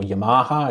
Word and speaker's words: Yamaha: little gray box there so yamaha or yamaha if you want to pronounce it correctly like a sound module